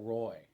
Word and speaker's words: Roi: The last name we'll talk about today is El Roi. That Roy is spelled R-O-I out of the Old Testament, meaning the strong one who sees.